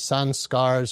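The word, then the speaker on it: संस्कार: Again, the yogis call these samskaras, or you hear them in the West pronounced like samskaras or samskaras. But, in India, it just be like samskara.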